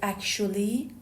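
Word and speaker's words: actually: مگر اچ به تلفظ اکول دقت کنید من گفتم اکچول صدای چ شنیدید اما برای اکشولی خب صدای ش میشنوید اکشولی اکشولی یک قیده اما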